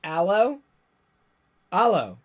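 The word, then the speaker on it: 'Allo 'Allo!: a lot of that allô allô it's pronounced ello ello ello like hello all oh no really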